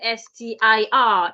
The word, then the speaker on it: stir: So this first word s t i r is rightly pronounced stir. Please stir the soup. Stir the tea gently. Stir. St. It is not a and it is not o. It is uh uh stir.